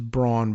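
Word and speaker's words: Braun: He says Brawn, but you know how Mike Brown says Senator Mike Brown says my name or is he governor now? Says, uh, my name is Brown, but it's spelled Brun. B R A U N.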